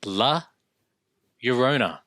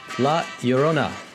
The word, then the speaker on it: La Llorona: The only way I know how to, or not how to pronounce it, but how to rhyme it is by thinking my Sharona. Yes, I love it. Or Corona, my Corona. My Corona, correct?